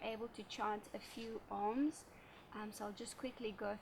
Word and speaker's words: Om: From there, you're able to chant a few Oms. So I'll just quickly go through that. So Om consists of three syllables, the A, O, and So you want to make sure that the ratio is 2:4.